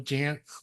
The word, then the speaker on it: Jantz: Well, also a shout out to your dad, John Jantz, which rhymes with pants, for creating duct tape marketing and for creating all of this.